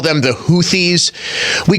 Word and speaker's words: Houthi: The Houthis, and I'm sorry, it's spelled Houthi. And I understand that it's pronounced Houthi.